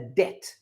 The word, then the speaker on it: debt: So all of this, a loan, a mortgage, an overdraft, or a debt. And we pronounce it like that. D-E-T is how we say it.